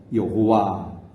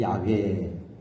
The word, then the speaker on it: 여호와: 학파가 요도해 바브해라는 이 4개의 자음 글자에 나름 모음을 붙여서 여호와 혹은 야훼 그렇게 여기까지 발음해 왔는데 그게 정확한지 아닌지는 아무도 모른다.